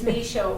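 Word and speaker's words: Micheaud: she pronounces it like it's supposed to be pronounced. It's Misho.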